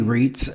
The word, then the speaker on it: Reitz: Louis when I was a kid named Kenny Reitz, and that's the way you say it. Yes. They say it wrong. Who's they? Your family. Well, I was told Reitz is in English and Reitz is German.